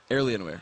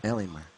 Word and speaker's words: Alienware: guys all the way to the Finish L Alienware Alienware okay there we Goen pronunciation helps indeed there's an r in there